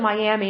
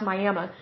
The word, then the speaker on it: Miami: We don't pronounce it Miami, unfortunately. It's pronounced Miami.